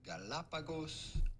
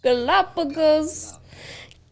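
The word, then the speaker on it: Galápagos: for wildlife viewing how do you go about pronouncing the name of these islands the galapagos islands galapagos can i just say a ghost island can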